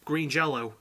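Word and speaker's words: Green Jellÿ: original songs so um green jelly are or green jello as they're pronounced even though it's a y with an omelette over it are a comedy metal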